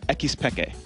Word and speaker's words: xPeke: Ocelot told me how to pronounce his alias and Peke's alias in Spanish in the proper. So it's Ocelote and X Peke.